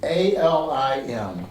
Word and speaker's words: Alim: A-L-I-M, Alim. And with the emphasis on the second syllable, the E sound that you particularly feel in the third eye center.